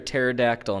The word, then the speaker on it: pterodactyl: they make up everything why can't you hear a pterodactyl in the bathroom why because the P is silent what do you call